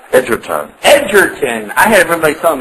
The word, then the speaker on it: Edgerton: How do you pronounce your last name just right? Edgerton.